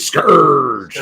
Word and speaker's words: Scourge: We do have Nexus Scourge, or how do you say it, Kelsey? Scourge. Like a pirate, and the great Mike Barron and Kelsey Shannon on art, and the book looks fantastic.